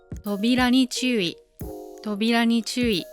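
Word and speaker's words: 扉に注意: 扉に注意です。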